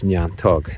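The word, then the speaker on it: neantóg: well-known word for nettle in Irish language is niantog. Niantog, so that's a lovely word, too. And that's said in Donegal, as well, as far as I know in places. And niantog was said in Minawny and Glenties, as well,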